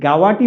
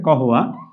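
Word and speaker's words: قهوة: সাথে পরিচিত রয়েছেন তো এই গাওয়াটি মূলত হচ্ছে আঞ্চলিক ভাষায় ওরা গাওয়া বলে শুদ্ধ আরবিটি হচ্ছে কহ এই কহ শব্দের অর্থ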